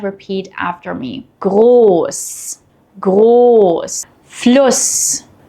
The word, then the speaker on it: Fluss: While both are pronounced the same unvoiced S, they affect the vowel before them. A double S shortens the vowel and an SZ lengthens the vowel.